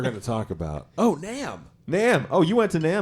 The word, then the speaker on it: NAMM: NAMM. Yeah. No, I Pronounced wasn't.